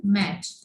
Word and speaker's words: match: In the word match, look at the word match that is in closed inverted commas. The 3 letters T, C, H at the end make only one sound.